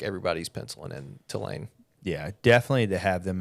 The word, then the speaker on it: Tulane: I'm a big voice texter, and if I say Tulane, it does TWO space LANE. Tulane. Maybe like we two should, lanes. It should be spelled like that.